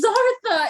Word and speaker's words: Zartha: It's Zartha. It's Zartha. I don't remember. Okay, look. It doesn't matter. It does. It's an alien thing. It rhymes with Martha.